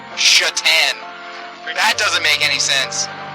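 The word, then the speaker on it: Šatan: don't think it's funnier that s-a-t-a-n is pronounced chatan that doesn't make any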